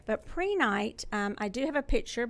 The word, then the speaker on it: Prehnite: So I didn't bring the crystal, but I'm introducing to you today a crystal called Prenite. It is spelled Prehnite. Sometimes I have to write to spell. Oh, yeah. Yeah, Prenite.